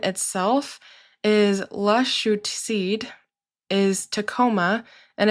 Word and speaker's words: Tacoma: The name of the mountain itself is La Chute, is Tacoma, and it's actually pronounced Tacoma. So if you see Tacoma, just know that the correct pronunciation is Tacoma, and it's the same as the nearby city.